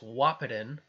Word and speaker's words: Wahpeton: this is I now know how to actually pronounce the city it's WAP it in the this gauge continues to fall they they